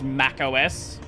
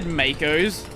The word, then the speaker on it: Mac OS: Also, I like how it didn't know how to pronounce Mac OS. It said Makos even.